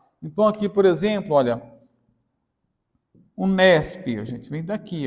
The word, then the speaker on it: Unesp: Então, você não pronuncia mais letra por letra, você pronuncia a própria palavra. Então, aqui, por exemplo, olha, Unesp, gente, vem daqui, ó, Unesp.